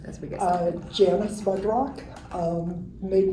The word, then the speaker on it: Mudrock: heard you say mudrock and I've also heard mood Rock that's that's interesting but when I got married my mother-in-law said you need to pronounce it mudrock otherwise nobody spells it right okay that's true